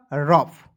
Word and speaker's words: rough: लिखना है र, और याद रखना किसी भी वर्ड्स के अंतिम में OUGH रखता है, उसका उच्चारण फ के रूप में करते हैं। क्लियर? तो हो गया रफ, ठीक है।